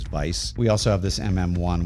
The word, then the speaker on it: Weiss: Up next, we've got the the Weiss or the Vice limiter. And there's also the I think the proper way to pronounce it is Vice.